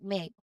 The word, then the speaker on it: make: You can see the E at the end, but we don't pronounce it as make or make. Okay, instead we pronounce it as make. The E makes the A sound long, so it's pronounced as make.